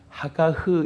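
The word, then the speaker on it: הגה: 하가흐 이렇게도 발음합니다.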